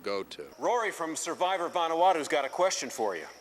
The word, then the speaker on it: Vanuatu: Rory from Survivor Vanuatu's got a question for you.